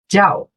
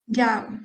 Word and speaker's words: 叫: Aí o Jiao você também pronunciou certo, só que o tom é o quarto tom, é o tom rápido. Jiao. Jiao.